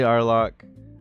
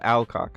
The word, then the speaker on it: Alcock: Arlock. Uh Alcock, I'm sorry. I I'm sorry I butchered your name.